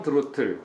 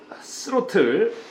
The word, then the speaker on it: 드로틀: 제가 드로틀이라고 했는데 이 번데기 발음이죠. 스로틀 아니에요. 드로틀. 이거 바로 발음할 때, 자, 우리 영어 수업 시간은 아니지만 입을 약간 벌리고 민망하게 이렇게 벌리고 드로틀, 드로틀, 드로틀. 목에 성대가 울리면 드로틀.